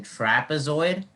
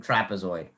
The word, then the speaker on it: trapezoid: and to hardik's question i actually think the e in trapezoid i think it's a schwa sound because it has that little e sound so i think that it's not a short e or a long e i think that's the schwa sound in trapezoid and once you hear